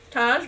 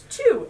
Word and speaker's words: Tage: like I would have said or yeah yeah Taj bullfolk but it's two and it is Patty one of our customers